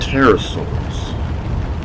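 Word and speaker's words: pterosaurs: Let's start off with famous probably most commonly heard of the terasaurs is built with a silent in terasaurs are flying reptiles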